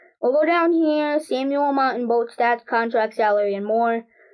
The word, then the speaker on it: Montembeault: I have no clue as to Montembeault. We're gonna say Mount, and then hopefully it's Mont. English is spelled Mont. It's not even Mount. It's Mont. Montembeault.